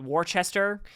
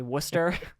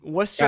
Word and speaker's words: Worcester: lot of people mispronounce it they call it Worchester that's how it's spelled um it's actually Worcester um Worcester out there a one-bedroom apartment could cost around